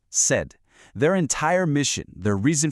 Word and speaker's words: CED: So let me introduce you to the world's center of excellence for destinations or said and that's pronounced said.